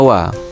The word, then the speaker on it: は: Nah, maka nanti setelahnya diberikan partikel wa atau huruf H ini ya. Nah, bacanya wa jadi watasi wa gitu ya.